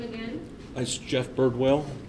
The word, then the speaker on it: Birdwell: name again that's jeff birdwell it's spelled like it sounds a bird and a whale b-i-r-d-w-e-l-l excuse me this